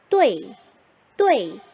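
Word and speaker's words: 对: 자, 그렇다면 자, 요것도 역시 나중에 정리 한번 해보고 자, 보시면 뚜이가 아니라 그래서 뭐라고 읽어야 해요? 뚜에이라고 읽어야 해요. 그런데 성조가 제4성이니까 읽어봅시다. 뚜에이, 뚜에이.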